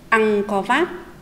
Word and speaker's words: Ăng-co-vát: Khi đọc từ này, chúng mình chú ý phát âm đúng tiếng. Vát có phần át. Các em hãy đọc theo cô. Ăn có vát.